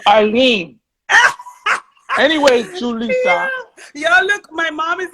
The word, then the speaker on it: Julissa: got mad at me for saying jolissa instead of julissa so i'm like yo